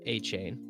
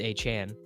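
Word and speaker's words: Achane: how to pronounce Devin a chain as ESPN's Adam shapter noted his name his name was listed in the team's pronunciation a guide as achain but according to Devon himself it's achan here's the deal dude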